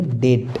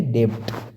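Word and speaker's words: debt: जैसे कि डी ई बी टी, इसको बोलेंगे डेट, न कि डेब्ट।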